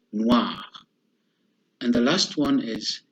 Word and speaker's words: noir: The third one is O and I together, and we pronounce them wa, like W-A, wa, as the word noir.